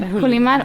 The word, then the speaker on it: Julimar: How do you want me to say pronounce it? Julimar.